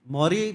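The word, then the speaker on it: Morrie: Maury means like what? His name is Maury. M-A like spell it.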